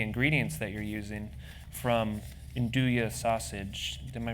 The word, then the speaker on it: andouille: From andouille sausage-- am I pronouncing that right?